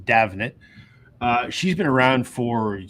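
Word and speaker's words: Damhnait: Canada it looks like her name should be pronounced damate but it's Irish and it's pronounced davet uh she's been around for 25 years I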